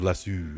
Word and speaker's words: lasso: The funny thing is when Brits get annoyed at me for saying lasso as lasso instead of lassu, and I'm like, we I'm with you. Whoever Whoever made up the word gets to claim it.